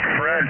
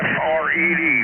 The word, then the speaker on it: Fred: Fred till you're dead. F-R-E-D. Foxtrot, Romeo, Echo, Delta. Fred. It rhymes with Ed.